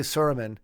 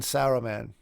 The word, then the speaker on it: Saruman: know how to say Saruman because I say sermon right and then Saruman you know and I still feel weird like like saying Sarah man and Sauron you know because uh because you